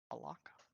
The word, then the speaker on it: Alaka: Oh yeah, we are going to Aleka or whatever. How do you pronounce it? Alaka. Alaka.